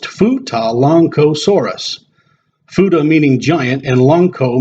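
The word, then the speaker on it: Futalognkosaurus: The genus name is derived from the local indigenous language mapu dungan and is pronounced futa lancosaurus.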